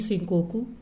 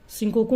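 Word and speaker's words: 四国: Option है Honshu, B Hokkaido, C शिंकोकू एंड डी क्यूशो। शिंकोकू नहीं, sorry शिकोकू है ना।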